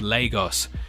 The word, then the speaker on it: Lagos: Obi who lives in the city that it's pronounced Lagos Obie you got yourself a follow and Kevin